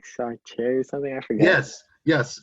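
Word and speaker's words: Jean-Paul Sartre: It's like Sartre or something. I forget. Yes, JeanPaul Sartre.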